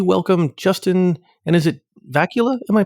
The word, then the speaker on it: Vacula: This episode, we welcome Justin, and is it Vacula? Am I pronouncing that right, Justin? Vacula.